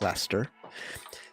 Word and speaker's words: Leicester: Yes, that's how you say it, Leicester.